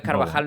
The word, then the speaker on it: Carvajal: Carvajal nunca hace bien como se pronuncia yo creo que Carvajal nos confirmaron con j Pero bueno que parece